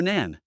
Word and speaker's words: 囝: is a polyphenetic character which can be pronounced as Jian or Nan. It is a dialect in areas such as Wu and Cantonese.